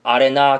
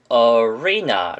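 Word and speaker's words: arena: 있는 단어입니다 대부분의 학생들은 아래나 경기전 아래나 경기자 이런식으로 암기를 하셨을텐데 사실 이 단어의 정확한 발음은 어휘 냐 어 왜 나라고 발음을 하셔야되요 위에다 강세를 빠 찍으면서 어휘나 라고 하셔야지 말을 할 때 상대방도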